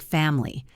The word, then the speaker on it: family: Family often sounds like family.